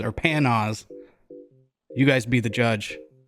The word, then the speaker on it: Panoz: Okay, digging a little deeper on the interwebs, apparently the family pronounces it Panoz. So that's what we're going to say. Panoz.